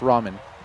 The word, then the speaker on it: ramen: say okay ramen god it's pronounced ramen cool so shadow Mewtwo